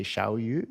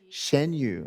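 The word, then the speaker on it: Xianyu: Am I pronouncing it right if I say Xiaoyu? Is that? Shenyu, okay, Shenyu.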